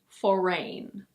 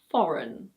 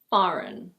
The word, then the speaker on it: foreign: Be careful. It's not "for-rain". In British English it's: foreign. Foreign. In American English it's: foreign.